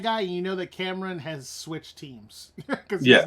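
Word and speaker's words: Kamran: I keep whenever we say Cameron, I think of the rapper. I know, me too. Uh, But that's exactly but how his name is. That's how they pronounce his name. yeah, Cameron.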